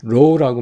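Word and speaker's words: rho: population correlation coefficient를 우리가 row라고 말합니다. row라고 그래요. row. 그러니까 그릭 발음은 그런데 row라고 그래요. row라고 그래요.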